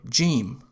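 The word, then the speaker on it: ج: In formal Arabic, the letter Jim is pronounced like j, as in jump.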